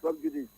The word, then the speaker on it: sub judice: Sub judice, although he has sub judice, but the thing is pronounced Sub judice. S-A-I.